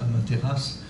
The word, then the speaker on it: Amaterasu: Car il était le 73e, quelque chose comme ça, descendant de la déesse solaire Amaterasu, qui s'écrit Amaterasu, mais qui se prononce Amaterasu, qui a formé le Japon.